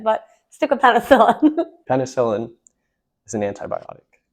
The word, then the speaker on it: penicillin: like sir yeah yeah penis Helen thoughts I have no thoughts on that penis Helen yeah no thoughts it's really good for bacteria oh penicillin how are you saying it penicillin oh what did I